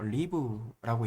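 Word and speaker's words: ריב: 리브라고 읽습니다.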